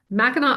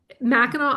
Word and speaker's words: Mackinac: Mackinac Island, let's say it together, Mackinac Island, not Mackinac, but Mackinac Island, and it's spelled just like you see it here. There's no K at the end.